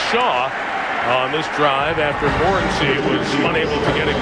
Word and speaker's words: Morency: We asked him yesterday, how do you say your name? And he said, Kirk, you're my witness. Morency. He said Morency to us.